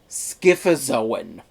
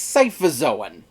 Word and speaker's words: Scyphozoan: Yes, apparently this proper scientific name of jellyfish is Scyphozoan. Except apparently that's not how it's pronounced. Apparently it's Scyphozoan.